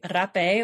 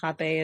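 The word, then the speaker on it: rapé: ago and uh actually rape or Hape is Americans pronounce it uh was my initiation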